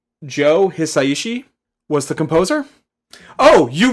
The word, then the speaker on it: Joe Hisaishi: I believe it's pronounced Joe Hisaishi was the composer.